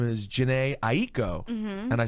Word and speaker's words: Jhené Aiko: like my name is janae ie ko and I said okay I'm gonna introduce you how do you say it exactly janae ie ko so I was like